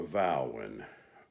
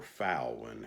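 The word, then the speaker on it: Vauen: I got my Vowin, or Fowlin, however y'all want to pronounce it. I've heard it pronounced both ways.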